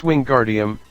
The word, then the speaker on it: Wingardium: having much more luck Wingardium Leviosa he shouted waving his long arms like a windmill you're saying it wrong Harry heard her my unnie snap its Wingardium Leviosa make the GAR nice and long you do it then